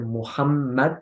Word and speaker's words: Muhammad: Porque si vamos a poner shadda en la segunda mim, así que va a ser Muhammad, entonces debo escribir doble M.